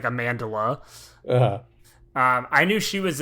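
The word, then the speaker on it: Amandla: it I think it's amandala too it's not even Amanda it's like amandala um I knew she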